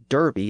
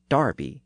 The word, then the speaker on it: Derby: spelled D rby Y is Derby in the US but is Darby in Britain so what's the deal